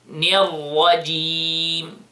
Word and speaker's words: الرجيم: Don't pronounce the jim in a level between the jim and the sheen.